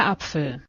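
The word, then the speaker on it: Apfel: masculine feminine neutral का articles है वो क्या अपफेल अपफेल ठीक है अपफेल मतलब एप्पल ठीक है अपफेल एंड अभी ये वाला वर्ड देखो ठीक है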